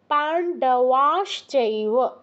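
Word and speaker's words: পাণ্ডবাশ্চৈব: খেয়াল রাখবেন উচ্চারণের সঙ্গে পান্ডবা বলবেন না পান্ডবাস চৈব তারপর কিমাকুরে সঞ্জয় সঞ্জয় নয়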